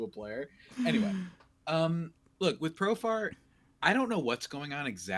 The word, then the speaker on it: Profar: Profare, man. Profare. That's how I always say his name. I don't know why I add that to it. He's from Curacao, man. He's not from Italy. I don't know why I do that. I still don't know why I do that. I know how to pronounce his name.